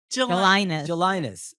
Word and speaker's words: Gelinas: Well, at least the soft G sound is important.